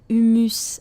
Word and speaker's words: humus: C'est une origine latine, humus, que l'on prononcerait humus à la française.